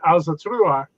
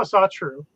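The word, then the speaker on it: Ásatrú: Or are you an Alzatrua?" And he goes, "Oh, I'm a Satru." And I said, "Okay, I mispronounced it."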